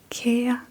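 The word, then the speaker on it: kære: For example, when we start a letter, we will write ka ka ka.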